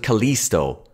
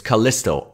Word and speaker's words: Callisto: He pronounces it Callisto. It's Callisto. I as in kit.